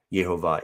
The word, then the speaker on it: Yehovah: So it could be that is an abbreviation for Yahoo or for Yahweh or Yehovah. I'm of the persuasion also, like Nehemiah, that Yehovah is the correct pronunciation, but we do see variations on that theme.